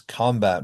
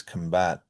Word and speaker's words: combat: So I'm going to give you some pairs of words, and on the left, you'll see nouns that have primary stress on the first syllable, and verbs have it on the second syllable.